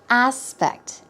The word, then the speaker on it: aspect: aspect here we go the stress goes on the first syllable aspect aspect we're talking about view